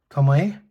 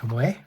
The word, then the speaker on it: Tomoe: The same with Tomoe, which is, I believe, according to my Japanese wife, is the correct way to pronounce that. It's not Tomo. It's not Tomoe. It's Tomoe.